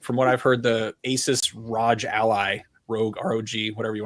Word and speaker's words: Asus: don't even know how you're supposed to say Asus, like what? Asus. Yeah. I've always called it the Rogue, like the Rogue Ally or the Nvidia. No, it's Nvidia. It's pronounced Asus Rogally.